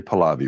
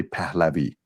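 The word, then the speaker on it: Pahlavi: their name palavi pavi Americans say palavi we say pavi of course of course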